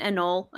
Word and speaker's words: anole: I don't actually know how to pronounce it because I know the Indonesian word chichak, but an anole.